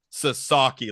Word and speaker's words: Sasaki: wrong Sasaki Sasaki Sasaki it was hammered to me like Sasaki like you know what we wear on our feet well I like that